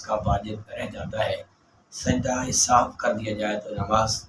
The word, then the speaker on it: سجدہ سہو: جاتا ہے۔ سجدہ سہو کا صحیح تلفظ یہی ہے، سجدہ سہو۔ بعض اوقات خواتین بیویاں بچوں کو پڑھاتی ہیں اور سجدہ سہو کہتی ہیں، یہ تلفظ غلط ہے، سجدہ سہو اصل میں ہے، یعنی بھول جانے کا